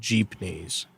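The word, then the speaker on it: jeepney: transit type of buses they're called Jeep knes and I I encourage anybody to kind of look them up it's jeepy it's spelled like Jeep and then Ney right and uh when the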